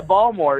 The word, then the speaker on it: Baltimore: to it being pronounced if you're from baltimore you got to pronounce it baltimore oh yeah ball more yeah my bad my